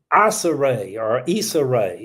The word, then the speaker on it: Issa Rae: Issa Rae, it's pronounced.